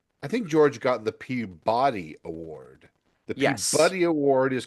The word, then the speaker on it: Peabody: There's a Peabuddy Award. It's pronounced It's pronounced Peabody.